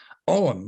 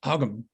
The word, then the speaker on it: Ogham: This is Ogham, which is sometimes pronounced Ogham.